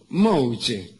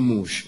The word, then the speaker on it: mouche: Era las minas acostumbraban a comprarse un lunar, se lo ponía en la cara, se llamaba Mouche, comoador de boca, aunque ellas insistían en pronunciarlo mal, pronunciarlo mal, decían mucho, ¿qué cosa?